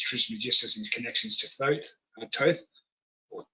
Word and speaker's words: Thoth: About Hermes Trismegistus and his connections to Thoth, or Thoth, if you want to pronounce it that way, Thoth, and the Emerald Tablets, okay?